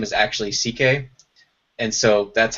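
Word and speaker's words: Székely: interesting uh his real last name is actually CK and so that's how you pronounces his real last name is CK so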